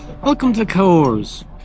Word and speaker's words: Cahors: Welcome to the cahors. Not cahors. The h is silent like a lot of other words like exhibition, archaeology, and vehicle.